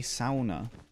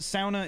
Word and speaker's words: sauna: they would say a sauna what yeah that it's pronounced sauna if you're Finnish if you're American is pronounced sauna what hey the Poland